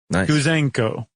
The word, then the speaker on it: Gouzenko: Apparently right after World War II there was a a cipher clerk, a cryptologist named Igor Gouzenko. Gouzenko. I added an extra syllable, I think.